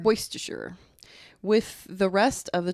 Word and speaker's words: Berwickshire: Tech was transported to Berwick Shire Scotland Berwickshire probably worst assure moist assure with the rest of